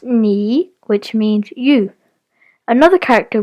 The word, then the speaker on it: 你: This character is pronounced ni, which means you.